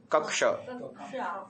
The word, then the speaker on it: कक्ष: ठीक प्रतिस्ता रना भावारा एक शब्द हम बोलते है ना कक्ष कक्ष उसमें भी हा कक्षा क और श है हा ये सही उरण है ठीक है ना आगे